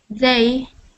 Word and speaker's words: they: that word for me they perfect good good so um when you were reading I was kind of hearing it sound like a d like day so just make sure